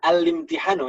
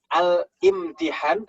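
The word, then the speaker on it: الامتحان: Bacanya al-limtihanu ya. Itu hamzahnya hamzah wasl. Makanya tidak ada kepala hamzahnya kan, bacanya bukan al-imtihan tapi al-limtihan.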